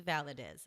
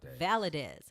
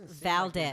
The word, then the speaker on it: Valadez: know how to pronounce her name's valedis it's like it's validated valadiz i was like oh thank god he got it right because hardly anybody did they usually call me val valdez they're a hard word